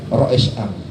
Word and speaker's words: Rois Aam: Kalau orang salah membaca surat kabar Rois AAM, tapi bacanya Rois Am, artinya ketua umum.